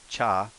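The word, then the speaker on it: ちゃ: ja so this is chi cha so it's chas and charles or cha-cha i don't think this there's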